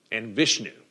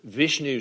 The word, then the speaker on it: Vishnu: si VA or Shi VA you also hear pronounced in different ways Shiva and Vishnu V is H nu V is H nu